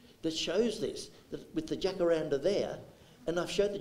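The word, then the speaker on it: jacaranda: sky and I've got a beautiful jackaranda or as they pronounce it in the in the Spanish world hakaranda uh and at this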